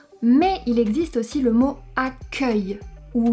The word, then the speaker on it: accueil: But there is also the word "accueil" where we have an open E because it is the last syllable of the word.